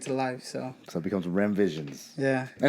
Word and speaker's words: Remmvisions: I always thought it was Remmyvisions. My bad. Yeah. I've been saying it wrong the whole time. Yeah. Nah, you're so good. Remmvisions.